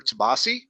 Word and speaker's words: Tomasi: And that was Don Kramer and Peter Tomasi. Is that right? If I pronounce that right?